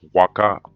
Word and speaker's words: Waka: Same way that Waka right in Peru with the H, but it's pronounced Waka.